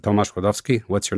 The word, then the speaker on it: Klodowski: And I said Tomas Kodvski.